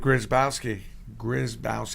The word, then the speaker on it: Grzybowski: Grzybowski.